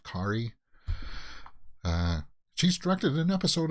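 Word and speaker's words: Carey: pronounce her last name it's spelled like carrie but it's pronounced kari uh she's directed an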